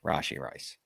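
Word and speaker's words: Rashee Rice: Or Rashi if you want to say his name correctly. Rashi Rice.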